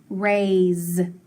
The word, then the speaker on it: raise: And then AY says A, so that A is long and that Y is silent. So A, and then add the S. Raise. Ooh, listen to that S though. Raise. It makes the Z sound, so I'm going to put that line through it.